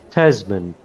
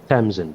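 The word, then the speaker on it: Tazmin: Yeah, so we were chastised for the pronunciation of Natsiva and Tasman Brits, not Tamsin Brits, as you correctly pronounced that.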